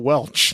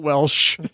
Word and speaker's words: Welch: like who was Raquel Welch? I think I actually copied and pasted right from the Okay, thing. well then if that's true, then I apologize. It's Raquel Welch, not Welsh.